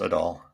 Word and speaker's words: Adol: land of east east i'm sorry it's pronounced at all yeah i know i